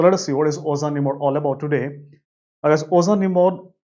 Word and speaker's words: ozanimod: So guys, if you look at this drug ozanimod which is approved in 2020, it rhymes with another drug that is called as fingolimod.